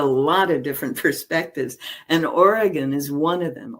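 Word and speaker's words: Origen: And Oregon is one of them. Origin, if you want to pronounce it that way, was one of those folks.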